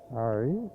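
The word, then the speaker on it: Colonarie: How better pronounce Colonary or something like that. Colonari.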